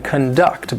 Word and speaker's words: conduct: This is the verb conduct. The stress is on the second syllable. Now, there are many different things that we can conduct, but some of the